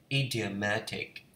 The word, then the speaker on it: idiomatic: Can you talk accurately about any topic and use idiomatic language? Idiomatic, không biết phát âm gì có đúng không?